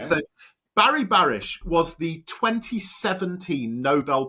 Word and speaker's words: Barry Barish: So, you said that meeting Barry Barish, is that you pronounce it?